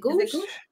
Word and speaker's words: Ghose: do you spell it go it's it's go pretty close actually yeah it's pronounced with an H at the end but there's no there's no h there so yeah you're you're